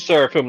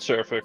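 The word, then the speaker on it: Seraphim: Well, it's Saraphim, not surfic.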